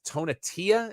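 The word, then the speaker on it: Tonatiuh: I think it's this Tonatia is how you say the name.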